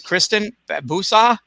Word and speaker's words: Kristyn Babusa: your your full name because i said it wrong uh earlier but it's kristin busa it's like it could